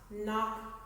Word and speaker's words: knock: the silent k words no new knit not knock and not and at any point if you